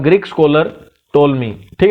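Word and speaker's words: Ptolemy: The Greek scholar टोलमी, ठीक है, P silent है यहाँ पे, याद रखना टोलमी।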